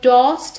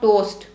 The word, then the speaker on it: tossed: onto the sofa so the word tossed has the awesome tossed it's not toast toast will be Oh bread while a toast we are talking about tossed I tossed the phone